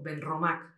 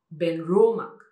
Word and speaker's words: Benromach: os vais a encontrar, que son palabras planas. Quiere decir que nosotros normalmente diríamos Glendronach, o también podríamos decirnos un caso de un Glen, pero es lo mismo, Benromach. Y no es así, es Benromach, Glendronach.